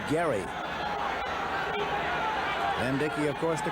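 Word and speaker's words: Gerry: Spells it G E R R Y, but he pronounces it Gary.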